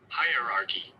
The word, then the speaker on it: hierarchy: Hierarchy. Hierarchy. The same pronunciation what I told you.